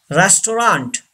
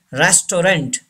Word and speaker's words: restaurant: Number 5, restaurant. Don't say restaurant. It's wrong. Restaurant. Say this word.